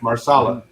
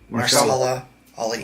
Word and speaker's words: Mahershala Ali: Marsala. Mahershala Ali.